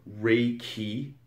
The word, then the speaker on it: Reiki: re means uh universal and uh the second syllable ki means uh life force energy therefore rey key is universal life force energy in this video